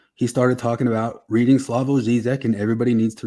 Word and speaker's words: Slavoj: Oh, with a Y. Yeah, Slavoj. Because he's a Slovenian? He's Slovenian, but it's Slavoj. But I don't know if you're gonna Slavoj. Yeah, no, J is Y.